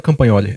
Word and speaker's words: Campagnoli: que especiais, professor Ivo Demiati e professora Adriana Campagnoli. Essa é a pronúncia correta.